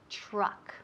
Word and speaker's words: truck: Truck. Ok, camión truck. TR. Truck. Y esa U suena como una A.